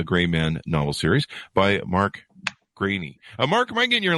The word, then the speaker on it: Greaney: you're nailing it I never notice when people mispronounce it but it is grainy yeah okay sounds good then and uh so